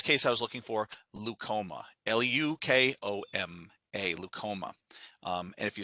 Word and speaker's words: leukoma: so in this case i was looking for leukoma l-u-k-o-m-a leucoma and if you start seeing uh